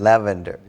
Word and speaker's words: lavender: Lavender. Not lavender, lavender. Lavender. But the accent goes on the first syllable, lavender. Lavender.